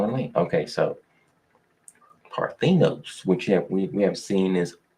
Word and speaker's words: Parthenos: They pronounce it Parthenos. I gotta learn that. You know what I mean? Okay, so Parthenos, which we have seen is in every scripture.